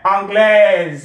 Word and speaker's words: anglaise: Anglaise, add your E and then pronounce the S as if it is a Z sound.